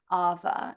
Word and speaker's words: awa: working very deeply with Ava it's here in Hawaii spelled AWA but it's actually pronounced with a V Ava and that is